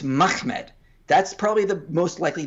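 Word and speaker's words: מחמד: Arabic and Syriac pronunciations the real real way you would pronounce this word is mahmed uh you would not add an additional syllable in there uh because there's not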